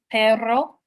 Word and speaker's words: perro: a strategy could be to probably extend the sound of the r in a Double R word like per perro if you're unable to